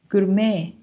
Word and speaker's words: gourmet: Axe, accepts, whistle, fasten, whistle, ballet, buffet, gourmet. As you can see, the T is not pronounced.